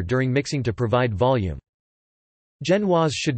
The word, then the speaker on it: genoise: A Genoise, or, French pronunciation, Genoise, Genoese cake or Genovese cake, rarely spelled Genoise